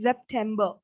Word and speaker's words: September: Again, we have the same spelling, but for S, we have the sound of Z. So it's September. September. Again, we have ER in the end. So it's not bar. September.